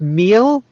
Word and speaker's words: Meile: It's Meila is how you Meila. pronounce it. Meila. Nice. Yeah. Totally not close at all. You're just being kind. Yeah, no, I was going to go with meal, but Meila.